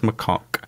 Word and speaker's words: macaque: trust me yeah but no it's pronounced macaque cuz I I wrote